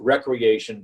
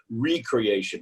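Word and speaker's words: re-creation: Don't pronounce it recreation, but recreation.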